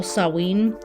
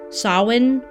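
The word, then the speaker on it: Samhain: going to talk to you about the festival sawing sawin okay it's spelled really weird but it's pronounced sawin like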